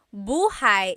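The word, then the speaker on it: buhay: Shir said, I always make a mistake with bah and so bahigh is house. Buhai is your life.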